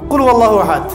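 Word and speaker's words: قُلْ هُوَ اللَّهُ أَحَدٌ: আল্লাহু আহাদ মানে কি এটা উচ্চারণই বা কেমন করে করতে হয় কুল বলুন হু আল্লাহু আহাদ তিনি আল্লাহ এক এই যে কুলহু আল্লাহু আহাদ অনেকে বলতে পারে না কুলহু আল্লাহ কুলহু আল্লাহু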